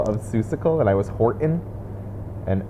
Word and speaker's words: Horton: seussical and i was horton and everyone was like there's a t in that word and i was like i'm saying it yeah horton horton and they're like you're not like horton says that's so